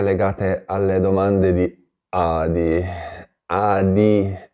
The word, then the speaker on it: ADI: Adi, lo pronuncio bene perché in un altro video mi avete scritto, hai detto Ari. Non ho detto nessuna Ari, si parla sempre di Adi.